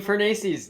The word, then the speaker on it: Fornace: FullStream here, and I am with my co-analyst Fornace. Actually, don't you change the way you pronounce it like every other year or something? I mean, Fornace's, that's right. You did it right.